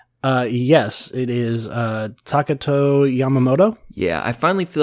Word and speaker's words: Takato Yamamoto: can you help help me out with the pronunciation uh yes it is uh takato Yamamoto yeah I finally feel like I got Yamamoto